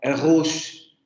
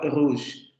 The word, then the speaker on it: rouge: cuenta que, por ejemplo, en francés no se pronuncia rouge, rouge, rouge, rouge, rouge, con esta vibrante múltiple uvular sonora, sino que tiene una pronunciación más semejante a este fonema, al fonema aproximante uvular, aproximante fricativo uvular sonoro, que sería este que aparece aquí. Algo más parecido a rouge, rouge, rouge, rouge, rouge,